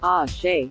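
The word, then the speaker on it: Àṣẹ: Each person involved also lend their exclamation, ah, she, from the Yoruba language. Ace, spelled with the Yoruba letter, s, shish, is uttered after prayers and incantations.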